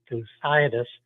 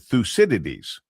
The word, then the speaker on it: Thucydides: One word that came out of yesterday's meeting is will be heard more and more and that is Thucydides trap.